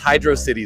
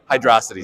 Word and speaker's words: Hydrocity: it just keeps going uh Sonic 3 it's pronounced hydroc City Zone not hydrocity Zone that's that's just it I won't be